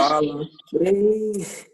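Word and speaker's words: palafrém: Então, quer dizer que se ela tá acentuada, qual é a sílaba tônica? Frem. A última, né? Então, ela é o quê? Ela é... Cadê? Ela é oxítona.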